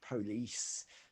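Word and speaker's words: Polis: i love from glasgow police uh never sure exactly if i'm pronouncing that right you know the the scottish version of police anyway um yes felt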